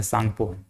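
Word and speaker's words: Tsangpo: सांगपो कहा जाता है ऐसे सांग लिखाता है लेकिन यह टी साइलेंट रहता है सांगपो सांगपो बोलते हैं इसको और यही हमारे छ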